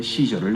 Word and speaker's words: 시저: 가이사는 헬라어식 발음이고요, 영어식 발음은 시저입니다. 그러니까 로마 황제 시저를 나타내죠.